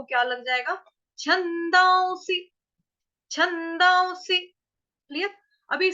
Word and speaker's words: छन्दांसि: उसके बाद है स, उसके साथ छोटी की मात्रा, जो ये अनुस्वार है उसका उच्चारण हम क्या करेंगे, आधा व, छंदांसी, छंदांसी।